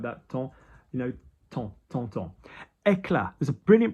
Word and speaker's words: temps: Body, corps, we don't pronounce the P or the S, corps. Temps, T-M-P-S, yeah, we don't, anything about time erasing or something like that. Temps, temps.